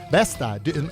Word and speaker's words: Besta: I'm going to keep reminding everybody that the 50th annual Kern County Basque Festival, Besta, am I saying it right? Besta, yeah.